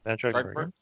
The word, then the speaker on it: Trachtenberg: So Travis Knight said, as reported by Deadline, replaces 10 Cloverfield Lane's director Dan Trachtenberg. Is that how you pronounce it? Yep, Dan Trachtenberg.